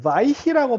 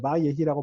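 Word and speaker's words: וַיְהִי: 바예히 요런 경우에 이거를 바이히라고 발음할 수도 있잖아요, 그죠? 단모음 다음에 쉐바가 나올 때 바이히라고 발음할 수도 있으니까 여기에 원래 메텍을 써주는 게 원래 기본인데 잘 안 써져요.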